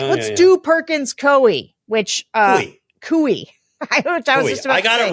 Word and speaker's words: Coie: Coie. Very good, Coie. Yes, I learned that because I mispronounced their name last week on this podcast.